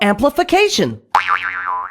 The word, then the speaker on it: amplification: Notice how t i o n is pronounced shun. You'll see that in a lot of words like multiplication.